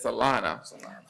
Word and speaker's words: Salina: That's not Selena, it's Salina.